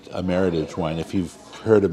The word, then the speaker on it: Meritage: And it's kind of like a Meritage wine. If you've heard of Meritage wines, don't call them Meritage.